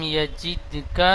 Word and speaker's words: يجد: আলাম ইয়াজিদকা ইয়াতীমান ফাআওয়া। আয়াতটি ألم يجدك يتيما فآوى. বানান করবেন।